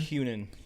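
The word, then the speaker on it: Hunnam: That fool, Charlie, how do you pronounce his last name? Han. Hunan. Hunan.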